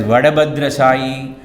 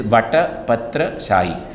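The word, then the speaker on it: Vatapatrashayi: Tamil being a language with limited alphabets, you will find this word is interpreted as Vadabhadra Shahi, Vatabhadra Shahi, and so on and so forth. The correct pronunciation is Vatapatra Shahi, the Vishnu who reclines on a banyan leaf.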